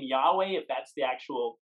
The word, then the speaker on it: Yahweh: So we pronounce that in sort of a modern recreation as Yahweh.